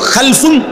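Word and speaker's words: خَلَفٌ: একই শব্দ শুধু উচ্চারণের মধ্যে একটু ভিন্নতা। মাঝখানে একটা লাম আছে। এই লামটার মধ্যে যদি সাকিন হয় তাইলে হলো খালফুন। আর যদি লামের মধ্যে জবর হয় তাহলে হলো খালাফুন।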